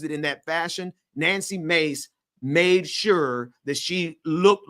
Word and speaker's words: Mace: man in the chat he said mace not Macy so thank you for saying it correctly Ben I was saying it wrong it ain't Macy sorry mace mace I was trying I